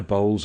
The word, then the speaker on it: bowl: Or when I bowls and fuller bats, a variant has it bowl being pronounced to rhyme with owl.